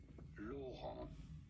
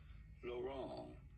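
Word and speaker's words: Laurent: In France, for reference, it is said as Lauron L. The T is silent. In English, it'd be fine to say it as Lauron.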